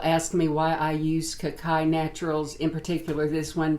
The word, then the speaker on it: Cacay: It's pronounced Cacay.